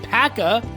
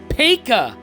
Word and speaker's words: Paca: didn't know that obviously I'm calling him William pacca uh in our introduction and for the last couple of minutes here but it's actually pronounced Pekka so it's William Paca interestingly enough there we